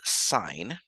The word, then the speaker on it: sine: going to call this sign of something so sine of theta in this case we still pronounce it even those s i n we